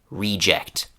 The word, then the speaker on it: reject: So in this noun, the stress is on the first part of the word. So again, reject.